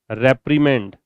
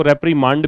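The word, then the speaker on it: reprimand: लिखा था scold chastise रेपमेंड। इसको रेपमांड भी बोलते हैं। ब्रिटिश में तो खैर रेपमांड ही बोलते हैं। अमेरिकन रेपमेंड बोलते हैं। तो दोनों में से कोई प्रोनाउंसिएशन आप पिक कर सकते हैं।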